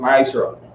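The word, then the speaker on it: מעשר: Means tenth in the Hebrew and it's pronounced ma'ashra.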